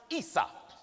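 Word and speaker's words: عيسى: Esau in Arabic is pronounced Isa.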